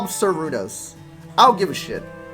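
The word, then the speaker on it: Cernunnos: The N is silent. For that one. There you go. The stipulation, it's an RN, so it's silent. Sarunos.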